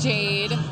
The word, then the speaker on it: Jaide: My name's Jade, but there's an I in between the A and the D. Spell it. J-A-I-D-E. So everyone gets confused, so I always have to clarify. It's almost like Haide.